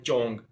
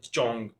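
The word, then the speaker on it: 钟: Chinese में कहते हैं चोंग जिस तरह हमने ऊपर इनिशियस में इसकी प्रोनाउंसिएशन पढ़ी थी जेड एच की तो इसी वजह से हम यहां पे जेड एच की जो प्रोनाउंसिएशन वो देंगे चोंग तो आगे है यांग शिप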